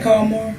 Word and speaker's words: Carmore: I'm saying it right, Carmore? Yeah, Carmore. Carmore, that's the attorney, right?